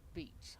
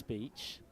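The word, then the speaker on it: Beech: One is spelt B-E-E-C-H, and one is spelt beach as in we go to the beach. They're both pronounced the same.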